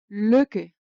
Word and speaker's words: lykke: U is pronounced Ö when followed by two consonants. Example, lykke.